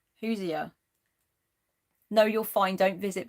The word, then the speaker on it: Hoosier: Or is it Hoosier? You're saying it right. Hoosier.